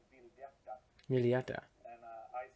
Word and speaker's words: Vildhjarta: Vildhjarta. Not Vildhjarta, which is absolutely unironically what I was going to say.